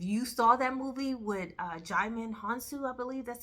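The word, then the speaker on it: Djimon Hounsou: I don't know if years ago in 1997 when it came out, If you saw that movie with Jaimin Hansu, I believe that's how you pronounce his name, is Djimon.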